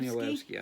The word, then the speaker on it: Danielewski: Is it Danielewski? Mark Danielewski, I think is how it's pronounced.